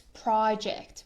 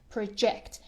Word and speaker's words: project: is a verb when it's a noun it's project but here it's a verb and we pronounce it project and it means present present or send an